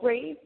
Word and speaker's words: Brāv: It's a play on words. It's brave without the e. Um we use the overline in order to suggest the the pronunciation being the same as the typical spelling of brave.